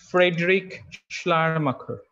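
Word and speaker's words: Friedrich Schleiermacher: theorist the the pronunciation is little difficult the pronunciation is frederick schlermaker s-c-h-l-e-i-e-r-m-s-c-h-e-r now this person has written a very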